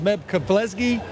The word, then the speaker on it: Meb Keflezighi: I have Meb Keflezighi.